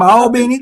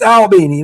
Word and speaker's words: Albany: I'm from Albany, Georgia. Yes. It's Albany, not Albany like we have in New York. Yeah. Albany. Albany, yeah.